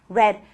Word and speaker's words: read: Pero como sabemos que tenemos que hablar del pasado cuando hablamos del what if, entonces usted sabe que esto se pronuncia red, como si fuera el color rojo.